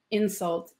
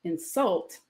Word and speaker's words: insult: What we don't have is a split, like insult, insult, where the noun has second syllable, but the verb has first syllable, because that wouldn't match any pattern.